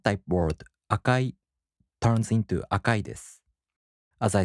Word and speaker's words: 赤いです: In both types, the accent falls on the mora before I. For example, the downstep type word 白い turns into 白いです. The flat type word 赤い turns into 赤いです.